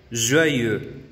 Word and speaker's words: joyeux: Y feliz, para decir feliz cumpleaños, feliz aniversario, joyeux. Joyeux. Entonces, la E marcada con labios redondeados siempre se va a encontrar cuando tengamos alguna palabra que lleve el diptongo EU. Heureux. Joyeux.